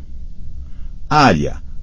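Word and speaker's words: Arya: l a g a e s i a área a r i a Blood garm BL o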